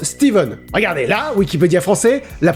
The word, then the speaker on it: Stephen: shining de stephen king quoi bon ça se prononce steven regarder la wikipédia français